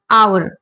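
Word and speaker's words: hour: आप जानते हैं तो हम इसको हार नहीं पढ़ते ववर नहीं पढ़ते हम इसको बोलते आर य एच साइलेंट होता है और ये क्या बोलता है आवर तो आवर मीन ये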